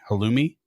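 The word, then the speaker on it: halloumi: or how how Ali is that how you pronounce it what h a l l o u Mi I Hali halumi halumi okay yeah it says mild mozzarella or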